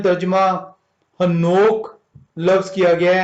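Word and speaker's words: חנוך: पे उर्दू में तर्जुमा हनोक लफ्ज किया गया है या हनूक लफ्ज किया गया है। ये इब्रानी जुबान का लफ्ज है और ये खनोक जो उनसे ये प्रोनाउंसिएट होता है।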